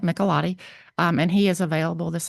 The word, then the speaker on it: Michelotti: I believe, Madam Chair, you are correctly pronouncing it, Michelotti, and he is available this afternoon, should we get to him earlier than tomorrow.